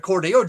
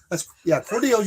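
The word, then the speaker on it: Cordele: Well, I heard of Cordeo, Georgia. Cordell, you got it right.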